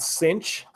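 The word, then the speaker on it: sinh: have a function called sine hyperbolic this is pronounced sine hyperbolic lik sine hyperbolic the shortcut is it's called cinch so if somebody says this they say the st.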